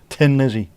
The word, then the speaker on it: Thin Lizzy: There was already a band called Tin Lizzy and they just went call ourselves Thin Lizzy because you pronounce Thin Lizzy as Tin Lizzy in Ireland. Anyway, that's the why.